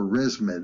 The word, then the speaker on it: ResMed: Boston Scientific, Stryker, Intuitive Surgical, and ResMed, or ResMed, it's spelled R-E-S-M-E-D.